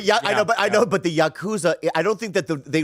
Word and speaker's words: Yakuza: And I don't want to be rude, but you're pronouncing it wrong. It's What is it? Yakuza.